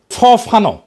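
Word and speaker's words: Fanon: লড়াই করা মানুষটা পরের জনকে দেখায় কিভাবে লড়তে হবে ফরাসি আলজেরিয়ান চিন্তাবিদ ফানো ফানো নাম আসল উচ্চারণটা উনি বলছিলেন পরাধীন জাতিগোষ্ঠী লড়াইয়ের ভিতর দিয়ে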